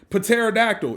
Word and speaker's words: pterodactyl: Pterodactyl. If the P's gonna be there, it should say something.